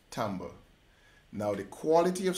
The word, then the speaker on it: timbre: The next element is tone, color, which is pronounced timbre.